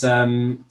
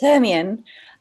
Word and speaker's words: Hermione: So next, just introduce yourself is what of course is Hermine. Am I pronouncing that right? Hi, it's Hermione.